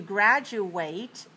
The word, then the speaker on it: graduate: different vowel quality so when we are talking about the verb to graduate the sound is eight 88 but when we're talking about the noun a person who has already graduated from a school that person is a gradu it so like the letters it it all right so I